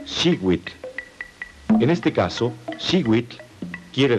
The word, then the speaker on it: xiuitl: Cada cuadrete contiene el color turquesa, que se pronuncia xiuitl.